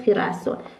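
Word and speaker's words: girasol: مثل خ مثل خ مثل خنته و مثل خیرسل خنته یعنی مردم خیرسل هم یعنی گل آفتاب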